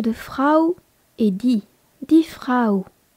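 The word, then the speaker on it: Frau: le gâteau l'article de Fra et dit di frou f r a u dirao est un nom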